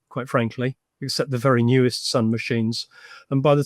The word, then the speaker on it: NeWS: And I think of all the technologies that were around at that time, Sun had a technology called News, or Newes as they pronounced it, which was a graphical display system written in PostScript.